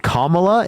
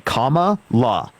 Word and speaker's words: Kamala: there we go dude commala is not hard to say Comm La is it really that difficult Comm La since you're going to